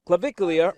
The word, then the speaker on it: Clavicular: So when it comes to online influencer, Clavicular, wait, how do you say that again? Clavicular, or Clav, is what he's also called.